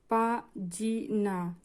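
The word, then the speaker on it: pagina: জি এর পরে ই আছে তাহলে হবে জ এর মত উচ্চারণ।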